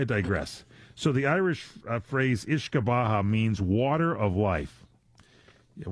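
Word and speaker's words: uisce beatha: This Ishkabaha is spelled U-I-S-C-E. I guess that's your Ishka, and B-E-A-T-H-A is your Baha.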